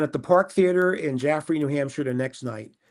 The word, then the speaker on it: Jaffrey: Yeah, Jaffrey, New Hampshire.